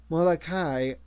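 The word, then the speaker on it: Moloka'i: Watanabe noticed that he pronounced the name of the island in the old way, Molokai, with a glottal stop.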